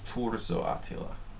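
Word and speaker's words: Turzó Attila: I say it like an American. I'm very bad about that. It's Turzo Attila. I know how to pronounce things correctly in Hungarian, but I'm lazy.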